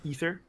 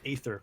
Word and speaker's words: Aether: of uh some people some people pronounce it ether which is the correct way ether but i pronounce it aether because i pronounce everything